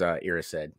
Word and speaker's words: Erised: So I read the audiobook. It was Erised in the Erised.